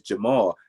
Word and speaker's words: Jamal: Just say Jamal, because if you gotta break your syllables down like that, why is it so hard? It is Jamal.